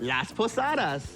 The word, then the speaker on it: Las Posadas: On Christmas, we celebrate Las Posadas.